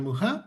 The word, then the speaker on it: Mucha: Um it's a real pleasure to have with us today uh Peter Muha. I looked up the pronunciation tip you gave us just like Alons Muha.